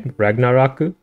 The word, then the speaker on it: Ragnaroku: So for Raigo, they translated it to Kingdom Come, but for Ragnarok, they still pronounce it the Japanese way, Ragnaroku. Is it because they're not allowed to reference Ragnarok because it's like a religious thing?